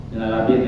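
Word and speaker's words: من اللبن: Ayo bacanya minalabin atau minalaban? Minalabin ya, minalaban aja. Minalabin ini daripada labin itu batu-bata.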